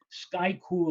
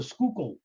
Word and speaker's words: Schuylkill: first time in Philadelphia I made an allusion to the sky cool expressway and it goes sky cool express waiver it's the Schuylkill the Schuylkill yes okay now here